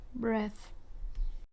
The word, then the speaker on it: breath: are different in pronunciation so we have breathe in or breathe out which sounds like an e sound breathe and we have breath which is the noun and it sounds like an a sound breath next we